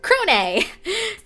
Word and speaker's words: Crone: It is called Crone. C-R-O-N-E. Crone. And that's how you pronounce it.